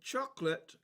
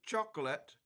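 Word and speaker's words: xocolatl: The English word chocolate derives from the Aztec term there, pronounced roughly chocolat, chocolat, and it breaks down to bitter and ATL water, literally meaning bitter water.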